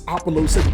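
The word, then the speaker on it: Apollousa: card we are going to talk about is apollosa goddess of the bow see i finally said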